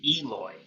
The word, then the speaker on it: Eloy: to third with the lois standing on the infield dirt with the ball i'm gonna i'm gonna correct you though now that we have the pronunciation guide it is eloy well eloy is standing